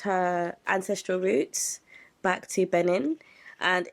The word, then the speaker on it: Benin: Benin. B N I. Am I saying it right? Benin. Yeah, Benin.